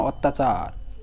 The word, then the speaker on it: অত্যাচার: রসে র দিলাম এবং শেষ হসন্ত দিলাম কেন অত্যাচার অত্যাচার শেষে কোন স্বরে ধ্বনি আসতেছে না র উচ্চারণ করতে অত্যাচার চার শুধু চার বলি র